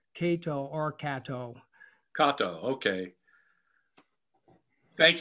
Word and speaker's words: Kato: the correct pronunciation is Kato, not Kato. Kato. So if it were written out in Romanji, that is Latin interment, it would be spelled Keito.